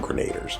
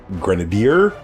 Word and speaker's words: Grenadier: I was a kid I call them the iron grenader but I I guess it's pronounced Grenadier cuz that's what they kept